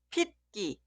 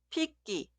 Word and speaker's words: 핏기: Esta palabra se pronuncia 핏기 o 핏기.